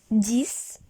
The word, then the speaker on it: dix: So the pronunciation is dix.